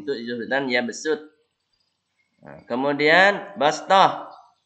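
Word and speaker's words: بسطة: Nah, kemudian bastah. Tulisan shad harus dibaca sin. Nah, ini. Fil khalqi bastah. Bukan bas. Fil khalqi bastah. Kalau sin itu agak ditarik. Fil khalqi bastah.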